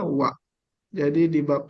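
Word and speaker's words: は: Tulisannya H, tapi dibacanya wa.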